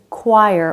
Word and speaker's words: choir: what where why whistle sometimes the ch combination makes a k sound which makes it feel like the h is silent like in choir or chaos or echo when gh is at